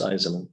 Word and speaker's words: Eisman: It's 3 syllables, Eisman.